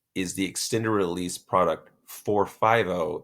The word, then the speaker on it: Forfivo: And then the last of our bupropion hydrochloride formulations is the extended release product 450. That's spelled FORFIVO XL. Now, if you say it slowly, 450.